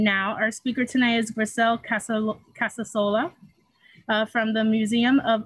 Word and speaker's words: Grisel: Yeah, Grisel Casasola. I know it's a little bit difficult to say, but it's actually only two syllables.